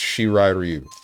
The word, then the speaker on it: Shirai Ryu: It's pronounced Shirai Ryu.